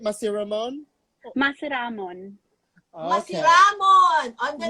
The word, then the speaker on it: Masiramon: You have to make sure we say it right Yay! because it's Bicolano. So are we saying Yes. it right? Masiramon?